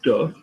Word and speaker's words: de: It's below the line, de, okay? So do not confuse de and day.